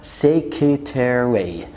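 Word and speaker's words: secretary: كلمة سكرتيريا او سكرتيرا سيكرتيري، انت الار واي في الاخر ما تنطقش الار في النص.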